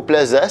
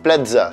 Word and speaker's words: Plaza: si vous dites Paco Plaza, c'est juste. Ce qu'il ne faut pas faire, c'est le prononcer à l'italienne, c'est-à-dire Z. Par exemple, Paco Plaza, ça c'est faux.